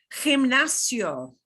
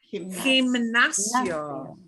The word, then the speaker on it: gimnasio: Gimnasio. Gimnasio. So the emphasis is on the NAS.